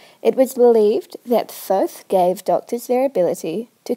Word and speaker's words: Thoth: Some people pronounce his name as Tot. It was believed that Thoth gave doctors their ability to cure people, so doctors wanted to keep him happy.